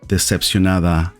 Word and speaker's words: decepcionada: Decepcionado, decepcionada.